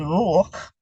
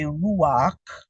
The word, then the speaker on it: Ruach: And Ruch, you will hear some say Ruach, but there's already a pronunciation associated, which is the U, so Ruch.